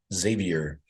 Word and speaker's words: Xavier: Cincinnati Saint X Saint Xavier uh is it Xavier some people say Xavier I think it's just Xavier you pronounce the X like it's a z right that's what I always